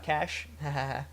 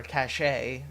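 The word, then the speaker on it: cache: thing then we can get our cash or cach a if you want to call it that I call it a cash let's see what what other pronunciations oh they there's a cash a cash a Kachi a cach all right we're just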